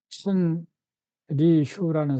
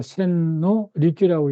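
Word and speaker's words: 千利休: 요거를 완성시킨 사람이이요 152년에서 1991년에 천 리휴라는 사람이에요. 그 센노 리큐라고 읽는데 센노리이 사람이 다도에 이제 나름대로 경지를 개척했고요 사람의 후손들이 세수로 갈라져 가지고 지금 다도에 큰 그 전통을 이용하고 있어요.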